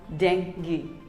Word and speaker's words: dengue: not dengue or dengue it is simply called dengue that's right dengue dengue here's another word i